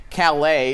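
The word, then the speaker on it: Caillat: probably heard that song Calais is how it's properly pronounced excuse me it shows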